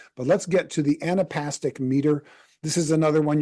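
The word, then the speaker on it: anapestic: Anapastic. Anapastic. So think of like an and then upstick. An upstick.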